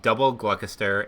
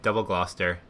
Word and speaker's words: Gloucester: gloucestershire gloucestershire gloucestershire gloucestershire i did pronounce the cheese double gluckuster instead of double gloucester as a child i'm sorry young kerm